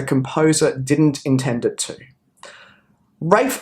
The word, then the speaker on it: Ralph: didn't intend it to rafe vaughn williams note the funky pronunciation of ralph ralph warren williams rayford